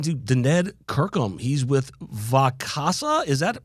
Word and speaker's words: Vacasa: He's with Vacasa. Is that how you pronounce that, Daned? That's correct, Vacasa, yes.